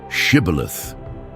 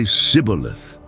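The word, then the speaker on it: shibboleth: Say the word shibilith. But the Ephraites couldn't pronounce it right. They'd say sibilith.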